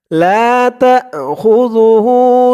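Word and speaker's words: لَا تَأْخُذُهُ: উল্টা পেশ, লা তাখুযুহু, যু, জালের উচ্চারণটা একদম নরম হবে, লা তাখুযুহু সিনাতু, সি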